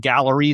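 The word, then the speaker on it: Galleri: So, there's a company called Gallery. It's spelled G A L L E R I.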